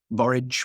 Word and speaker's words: borage: and a handful of borage which is is is is pronounced to rhyme with courage a lot of the